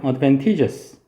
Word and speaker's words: advantageous: 그리고 advantage의 형용사는 발음이 좀 다른데 얘는 advantageous라고 발음합니다. 얘는 t를 강하게 읽어야 돼요. advantageous.